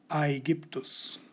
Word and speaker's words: Aegyptus: Now you know that by pronouncing all the letters correctly, we get the Roman pronunciation of this country, Aegyptus.